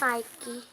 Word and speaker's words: Nike: Tadi sepatunya merek Nike warna hijau. Itu ada tulisannya Nike, tapi bacanya Nike.